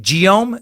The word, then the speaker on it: Guillaume: uh geo scuse me giome de Machaut yeah there we go hard G isn't ghost or gas and he said G ohm is French for William his music is actually